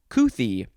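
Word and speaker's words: couthie: there's too much couth next is kuthi so it's kooth with an ie it is an adjective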